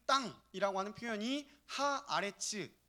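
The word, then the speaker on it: הָאָרֶץ: 그리고 영어 단어로 랜드, 땅을요, 히브리어 단어로는 아레츠라고 발음을 합니다. 이미 우리가 보고 있는 이 12장 1절 본문에 그 땅이라고 하는 표현이 하 아레츠 더 랜드 이렇게 표시되어 있거든요.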